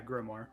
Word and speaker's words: grimoire: There's the how do you pronounce this? Grimoire. Yeah, Grimoire.